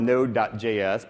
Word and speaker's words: Node.js: with node it's it's spelled node.js but usually just pronounce it node that the dot JS